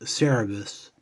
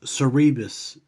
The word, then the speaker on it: Cerebus: did it take you before you knew that it was pronounced cerebus i still have memories of thinking it was cerebus of all things i don't know how i learned the right way to say it give that mouth a